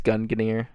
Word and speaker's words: Gungnir: I think it's Gungnir is how you pronounce it.